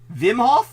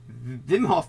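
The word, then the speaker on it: Wim Hof: of the Iceman uh VI how do you pronounce this guy's name again Vim Hof meth Vim Hof method yeah Vim Hof did you just say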